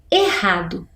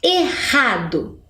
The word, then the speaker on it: errado: quando eu falo lá errado é ali eu separei a sílaba R com a mas na pronúncia para ter esse som forte eu preciso dos dois RS né errado acertou quem conseguiu identificar